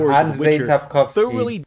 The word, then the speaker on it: Andrzej Sapkowski: Sapkowski, not whatever that pronunciation was.